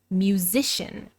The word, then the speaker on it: musician: Sometimes CIAN, sometimes SIAN, both pronounced with a sh sound, shun.